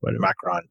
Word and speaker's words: Macron: Am I going to pronounce it wrong? Macron, or whatever. I don't know. Macron.